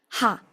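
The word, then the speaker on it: は: Ojo acá porque la H es expirada, como si fuera la H del inglés. No es una H muda como en el español. Entonces, vamos a pronunciarlas. Esto tiene que salir como un suspiro, como un soplido.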